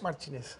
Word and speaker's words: Martinez: O especialista em direito do consumidor, o doutor Martins, gentilmente aqui conosco. muito obrigado pela gentileza, bem-vindo aqui no Jornal. Como é que eu pronuncio o seu sobrenome? É Martins ou Martinez? Martinez. Martinez?